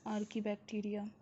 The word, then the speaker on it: Archaebacteria: Hello students, in this video I am going to tell you about the next moneron, that is Archibacteria, which you can also pronounce as Archibacteria.